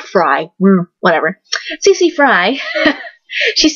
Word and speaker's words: Frey: Yes, her name is pronounced Fry, because apparently Mario and Chloe were calling her Cece Fry, and everyone was like, they're saying it wrong.